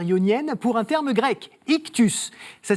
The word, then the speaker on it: Ichtus: traverse la mer yonienne pour un terme grec ictus ça s'écrit i ch t s ictus voilà peut-être